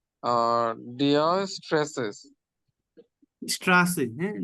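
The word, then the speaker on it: Straße: dash জি dash জি dash জি আর deer stresses স্ট্রাসে হ্যাঁ ডি স্ট্রাসে ডি স্ট্রাসে বি এর মত যেটা এটা উচ্চারণ হবে ছ এর মত হ্যাঁ এই যে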